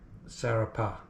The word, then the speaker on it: Sfarrapa: That's the actual pronunciation. Sfarrapa, let's say.